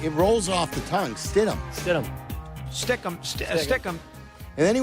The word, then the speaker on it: Stidham: And I don't know him well into enough, but stick him. Stidham is not you look at the name. It's not He hard. has mispronounced other names that are more difficult to pronounce than that.